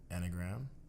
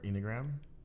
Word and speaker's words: Enneagram: go episode number seven e is for anagram or enneagram enneagram there we go i call